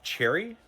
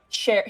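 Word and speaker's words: Sheri: Sorry, did you say that person say her name was Cherry? Yeah. Cherry. Like the fruit? Sherry. Sherry, okay. S-H-E-R-I. Okay. Like Sherry, the yeah. drink.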